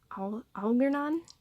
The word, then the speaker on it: Algernon: This is, I think it's pronounced, forgive me, but Algernon, A-L-G-E-R-N-O-N. Algernon product, and this is a 1/8 scale figure, PVC.